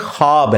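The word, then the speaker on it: خواب: नहीं आ सकता अच्छा ये लफ्ज लिखने में है ख्वाब ख वा अलिफ बा लेकिन पढ़ने में ये ख्वाब है वाओ साइलेंट हो जाता है ख्वाब पढ़ा जाता है ये लफ्ज़ उर्दू में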